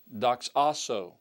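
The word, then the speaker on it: δοξάσω: The future form of that word is pronounced doxaso. Doxaso, which means I will glorify.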